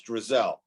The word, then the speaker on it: Drzal: It's Drzal. That guy still can't pronounce it correctly.